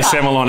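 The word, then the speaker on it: Sémillon: and what sets tyrell's semi-lon as i'm now going to say so i i say semillon and samuel i kind of get both but uh i think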